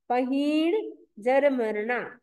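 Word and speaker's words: पहीणजरमरणा: मरना पहीन जर मरना उच्चारण क्या करना है पही ही बड़ा है पही जर मरना पही जर मरना पही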